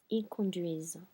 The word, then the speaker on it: conduisent: I have my ENT here that's making me sit on the S and making me pronounce it. So pretend it's an muet. I'm still not pronouncing the ending, but it is making me pronounce this S.